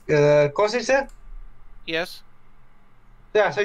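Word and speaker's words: Košice: Wasn't it pronounced, wasn't the destination name pronounced Kosice?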